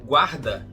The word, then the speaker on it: guard: Guarda, que em inglês não se pronuncia o U, a gente fica com guard e não guard, tá?